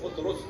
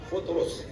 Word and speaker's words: فطرس: صحیح تلفظ ہے فطرس، فے پہ پیش ہے فطرس.